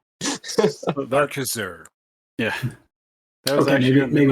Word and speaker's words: Arcaxer: Aaron and Anthony are working on the game Arcaxer. Is that how you pronounce that? It's always going to trip me up. Yeah, that's about right. Everyone has a hard time with it, but everyone also pronounces it right. It just doesn't it doesn't feel right. It's a made-up word. You can say it however you want.